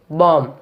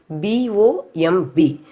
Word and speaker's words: bomb: First one is bomb. B-O-M-B. Here we are not stressing the letter B. Just we have to say bomb.